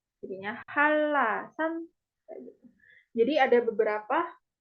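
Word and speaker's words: 한라산: Contoh lain ada ini nama gunung ya. Ini N, ini R. Jadinya LL duanya. Jadinya Halasan.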